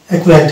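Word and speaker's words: acquaint: যেমন অ্যাকুয়েন্ট, এই যে সিকিউ আছে এখানে সি সাইলেন্স থাকছে, কিউ এর উচ্চারণ আসছে, অর্থাৎ এটা হচ্ছে অ্যাকুয়েন্ট, জ্যাকওয়ার্ড, লেকওয়ার্ড, অ্যাকুয়েন্ট্যান্ট।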